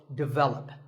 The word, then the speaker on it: development: number 42 is developed this is pronounced wrongly by many learners of English as develop but the first syllable is actually dick and the stress is on the second syllable so development our next word is